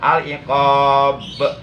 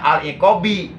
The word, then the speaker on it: al-iqab: Buktinya dibaca qalqalah al-iqab, nggak dibaca al-iqabi, kan?